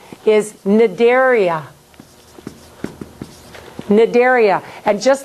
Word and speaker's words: Cnidaria: This is Cnidaria. So when a C is in front of an N, just like a K in front of an N, you don't say it.